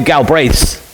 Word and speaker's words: Galbraith: there's quite a few Galbraiths around the Marshall area, but it is Galbraith, with an emphasis on the second part there.